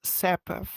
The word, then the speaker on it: Sapifh: lot of people because the H is confusing for them but it just makes the F softer so it's not sap it's sepf with a long soft